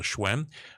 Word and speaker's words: Hsuen: go to Hsn, that's how you pronounce and spell Schwen.